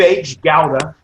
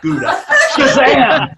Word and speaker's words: Gouda: beans and our cave h gowda parentheses that is the correct pronunciation in dutch not gouda organic best meal i